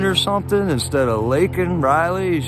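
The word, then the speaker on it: Laken: is was I mistaken there did he say Lincoln or something instead of linol Riley he said Lincoln Riley or something and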